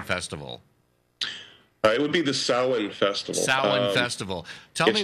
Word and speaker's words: Samhain: Now, specifically, am I pronouncing this right? Is it Samhain or Samhain Festival? It would be the Samhain Festival.